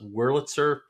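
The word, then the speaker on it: Wurlitzer: Because you have one of the uh, I'm going to mispronounce it. Woritzer. Is that the Witzer band organs? Yes. I got that right. Yeah, we have a 1924 Willitzer band organ on our uh machine.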